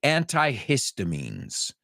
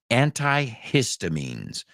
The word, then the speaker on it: antihistamines: let's say it together, porque la H se pronuncia en inglés. So you say antihistamínico, if I'm not mistaken. We say antihistamines. So la H, like history, antihistamines.